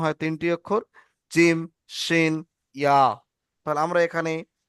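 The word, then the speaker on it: ج: আচ্ছা, এক কাজ করেন, জিম। এক কাজ করেন, জিম। প্রথমে আপনি জিভের মাঝখানটা উপরে তালুতে লাগিয়ে রাখেন। জিভের মাঝখানটা আপনারা উপরে তালুতে লাগিয়ে রাখেন, এরকম জিম।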